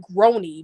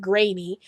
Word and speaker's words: Groening: grainy and at one point I want to pronounce as Matt Groening because that's what it looked like when I